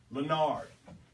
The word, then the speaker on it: Leonard: I want people to understand that it's spelled Leonard, but he's got that exquisite way of saying it. You gotta say it. You gotta say it. There's no E in it.